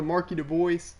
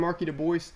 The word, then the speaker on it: Marky Dubois: and also similar to Marky Du Bois, or the announcers call him Marky Du Bois. He calls himself on Backyard Baseball Marky Dubois, so that's how we're going to be pronouncing him.